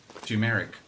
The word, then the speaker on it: turmeric: or But how would you pronounce T-U? Two or two? Or ta. two? turmeric. Now, you see, that's also weird. No, so Yes. it's two. Turmeric. Turmeric.